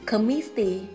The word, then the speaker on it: committee: Tuy nhiên chúng ta có hai ngoại lệ, đó là từ coffee, trọng âm rơi vào âm đầu tiên, từ committee, trọng âm rơi vào meet.